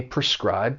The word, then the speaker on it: prescribe: Now this verb has 2 syllables, and the stress is on that second syllable, prescribe. And that first syllable, even though it's spelled P-R-E, it has a pr sound because it's unstressed.